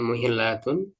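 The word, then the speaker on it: مُحِلَّة: rasul dan kami bersama Rasulullah SAW muhillatun ini bacanya muhillatun wa muhrimatun ya dalam keadaan halal ya dan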